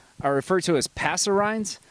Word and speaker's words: passerine: are referred to as passer rinds sometimes it pronounces passerines or passive range depending on where you are uh apparently just the